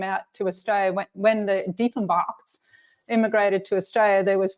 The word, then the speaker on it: Diefenbach: pronounce it correctly for me. It's Diefenbach.